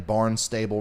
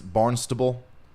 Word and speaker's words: Barnstable: that sounds terrible oh am I saying Barnstable wrong it's barnable barnable County man you guys you